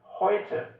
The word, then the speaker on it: heute: Não parece que todo o E no final da frase tem um som de A também?